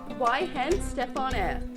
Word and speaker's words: Weihenstephaner: Whoa, and wait, how do you pronounce it though? Weihenstephaner.